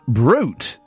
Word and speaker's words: Brut: r u t ah I think it's pronounced brute brute or something yeah yeah yeah not brat if you're going into